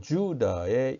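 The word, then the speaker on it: Judah: 그리고 제이콥, 그리고 주다의 이 지금 이 하이픈 덧금 표시는 길게 발음하라는 뜻이죠. 장모음을 표시합니다. 그래서 주다 길게 발음하라는 뜻으로 이렇게 표기를 했습니다.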